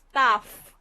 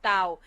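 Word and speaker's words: ταυ: sound for sure and we call it tough with f tough tough not not Tao but uh I it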